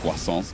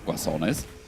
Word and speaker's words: Guasons: Guasons, not Guasones. I'm just maybe getting excited in my Spanish, and Maybe I'm the one who's wrong.